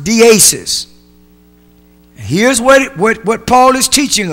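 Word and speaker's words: δέησις: That word supplication comes from a Greek word which is pronounced deesis.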